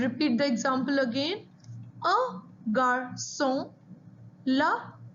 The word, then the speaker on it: garçon: C with a cedilla, which is pronounced like an S.